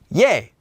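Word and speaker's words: ㅖ: And just like our previous syllable, this one would also be pronounced as ye. Ye. Ye. It also looks a lot like our vowel e, just with a y sound added in.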